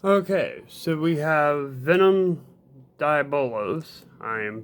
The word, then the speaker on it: Diabolos: at eight grams okay so we have venom dibolos i am pronouncing his name finally right he weighs 66